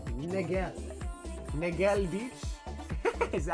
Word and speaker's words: Niguel: It's pronounced like Miguel, but with an N, Niguel.